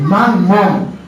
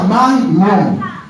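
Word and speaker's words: Mammón: era el dinero Amén conocido como con una m en el medio món no como mucha gente dice no se pronuncia manón ese esa El Dios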